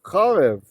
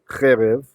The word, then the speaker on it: חרב: Charev is just the word cherev, usually spelled like so. The vowel changed because of the strong ta'am. The siluk has the power to change a short sagol into a long vowel, kametz.